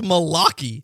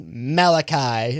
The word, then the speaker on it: Malachi: I I picked Malachi, but really it was based off of Malaki, who I don't know who he was. What the is Malaki?